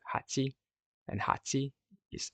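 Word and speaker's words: はち: But here, as we said, number 8 is pronounced hachi, begins with the sound of the katakana ha.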